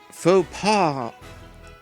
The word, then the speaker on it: faux pas: Faux pas is how you say that.